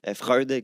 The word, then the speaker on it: Freud: de sigmon fr fr je prononce tout temp mal son nom là Freud comme on dit euh je pense que